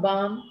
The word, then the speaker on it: balm: And in some places, the L is silent. Calf, yoke, calm, balm, right?